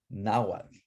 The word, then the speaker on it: Nahuatl: and they spoke that top word right there, Nahuatl. It's not Nahuatl. I don't see an O in there anywhere. Do not say Nahuatl ever. It's Nahuatl.